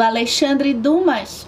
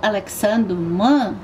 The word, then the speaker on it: Alexandre Dumas: Eu vou começar com nada mais, nada menos que o Conde de Monte Cristo, do Alexandre Dumas, ou Alexandre Dumas. Escolha a melhor pronúncia que você quiser, meus senhores.